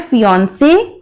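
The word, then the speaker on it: fiancée: तो जो मेल होता है उसको कहते हैं फियांसे। ठीक है। और जो फीमेल है उसको कहते हैं फियांसी।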